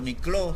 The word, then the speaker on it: Niklaus: Ahora Nicolás y sus historias llegan a Alemania, y en Alemania le decían Niklaus, así se escribe Niklaus o Nicló se pronuncia.